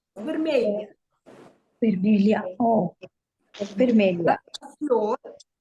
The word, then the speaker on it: vermelha: Vermelia. This is a new sound for English speaking people. Yeah. Okay. A floor è vermelha.